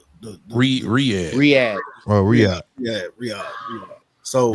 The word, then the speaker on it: Riyadh: Back to that Rahad thing. Ain't that how you say it, Rahad? Who? Riyadh.